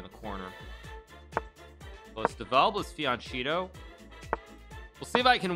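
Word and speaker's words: fianchetto: feed on cheeto um rulerville says it's pronounced what fianchito okay no it's it's fianchito uh but thank you thank you for the uh the the the english lesson um let's go g4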